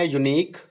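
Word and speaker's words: unique: टंग से हमने बनाया यूनिक, यू ई साइलेंट है, एंड वेग, यू ई साइलेंट है।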